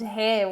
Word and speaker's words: hair: The little girl has long, curly, blonde hair. Well done. Careful with the pronunciation of hair. Con una H aspirada. Hair.